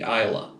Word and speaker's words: Islay: I've heard several different pronunciations of that, but I've been assured in the YouTube comments by somebody that any distillery worker that makes an Islay malt will back the Islay pronunciation.